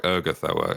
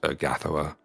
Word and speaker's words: Urgathoa: it did it's like eroa is actually pronounced urgathoa really that